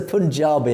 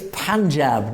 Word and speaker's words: Panjab: Why do you use a Punjabi accent to say Sikhs, but then continue the rest of your news in an English accent? Well, I'm English. Also, it's Panjab, not Punjab.